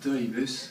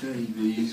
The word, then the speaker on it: Davies: So, it's actually pronounced Davis. I know you American like to say it Davies, but yeah, we English say it a bit differently.